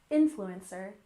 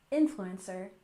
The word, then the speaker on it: influencer: have influencer once again stress the first syllable influencer influencer do you remember what